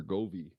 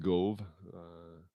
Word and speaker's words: Gove: Because I know there's an automotive shop and the proprietor, his surname is Cove, and that's how they pronounce it. So I'll say just switch the C to a G.